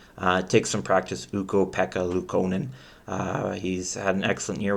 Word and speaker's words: Ukko-Pekka Luukkonen: Now, if you could pronounce his name, you say his name. Take some practice, Ukko-Pekka Luukkonen.